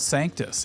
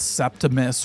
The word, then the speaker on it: Sanctus: a kid, basically uh we were called Sanctus. and everybody seemed to mispronounce it at first. They would call us Septimus or Santis.